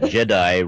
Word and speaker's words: Jedi: bear in mind that jedi rhymes with you die and um so yeah